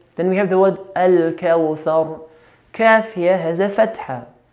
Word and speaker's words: الكوثر: that is واو سكون, we have to be careful in not pronouncing the letter closer to an O, the English O. كوثر, which is common to hear. إنا أعطيناك الكوثر. We don't have O in Arabic. We don't say كوثر.